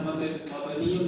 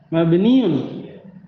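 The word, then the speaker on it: مبنيٌّ: Ya, terkadang sebenarnya mabniun dengan bacanya mabni saja. Mabniun. Sama, mabni itu kalau waqaf. Kalau antum berhenti mabni. Tapi kalau antum lanjut baca bunyikan harokat akhirnya mabniun.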